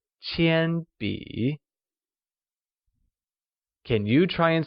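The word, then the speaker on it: 铅笔: 铅笔 is pronounced with a high level tone on A and a falling rising tone on I, like 铅笔.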